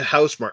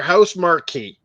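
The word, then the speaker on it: Housemarque: out of the way i hear people call it house mark it's a house mark or house marquee well i've always read it and understood it as house marquee and people get house mark house mark if you look at it and read it properly it's host marquee yeah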